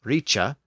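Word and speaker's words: rice: H for that sound so r i c e pronounced Richa came to be spelled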